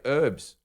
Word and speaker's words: herbs: a funny word I don't like when people say herbs yeah we say it wrong yeah it's got a nature who's ever heard of a silent h wait say say h